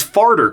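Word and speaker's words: Farder: He's Farter Coram, which is pronounced like a guy who farts, but spelled with a D.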